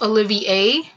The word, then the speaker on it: Olivier: letting us know that it is a French name and it is pronounced Olivier Oh Olivia oh okay